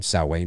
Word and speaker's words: Samhain: you know, Samhain, and that is the correct pronunciation, Samhain, not Samhain, just so people don't go, what the hell is he saying? You know, but, you know, and